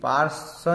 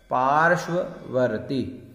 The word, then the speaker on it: पार्श्ववर्ती: रूप ममलम भवतो नितांतम स्पष्टोल्लसत, स्पष्टोल्लसत किरण मस्त तमो वितानम बिंबम रवे रिव पयोधर, पयोधर पार्श्ववर्ती, पार्श्ववर्ती, पार्श्व नहीं पढ़ना, श, पार्श्ववर्ती।